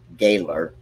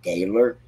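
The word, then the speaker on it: Gahler: I'm just going to say his name is Gaylor, but it's G-A-H-L-E-R. So I'm going to say Gaylor, said Martinez Hernandez was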